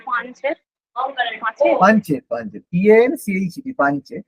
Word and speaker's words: পাঞ্চেত: পাঞ্চেত, পাঞ্চেত, PANCHET, পাঞ্চেত। এবার উচ্চারণ করবে যা পাঞ্চেত বা পাঁচের একই ব্যাপার, পাঞ্চেত বা পাঁচেত। হ্যাঁ ঠিক আছে, অসুবিধা নেই।